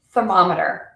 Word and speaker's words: thermometer: extra pieces to it it's thermometer not thermometer thermometer so the whole beat really really changes on that one so that's a